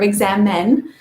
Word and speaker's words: Examen: prayer of examine and it's spelled e-x-a-m-e-n not e-x-a-m-i-n-e probably if you google the english word exam and the prayer of examine you'll find it but it's a prayer of exam men and it's a way